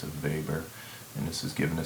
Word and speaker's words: Weber: name it's called a Weber looks like Weber if you anglicize it but in the German pronunciation it's a Weber and this is given